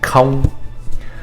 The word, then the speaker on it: không: Now, if you in some previous video, I mentioned that Vietnamese has what's called a hard C sound and a soft C sound. This word has what we call a soft C sound. Okay. If I were to say that with a hard C sound, it would be công, which means more like work or effort. Không is a softer sound, right? And that's really the sound we want here.